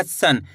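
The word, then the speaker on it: सं: इस अंक का उच्चारण कैसे जोड़ेंगे? आधा ना के रूप में, तेजी के साथ निकलेगा सन।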